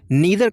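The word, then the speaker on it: neither: Okay तो आप कह सकते हैं नीदर ऑफ देम या फिर नाइदर of them was cooking food. दोनों, नीदर का दो प्रोनाउंसिएशन होता है, नीदर नाइदर।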